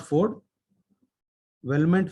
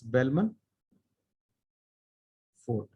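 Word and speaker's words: Bellman-Ford: just just for the interviews Bellman Ford Wellman for bln m-a-n-f-o-r-d it's not Ford Wellman photo it's Bellman Ford MN effort this is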